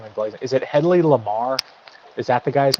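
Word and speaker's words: Hedley Lamarr: Headley Lamar.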